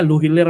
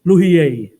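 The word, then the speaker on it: Lhuillier: Well, halimbawa, may nabisita rito at ang nabisita, Luhiler ang pilido, no? Luhiler. Yung pronunciation pala nun sa France, Luhier.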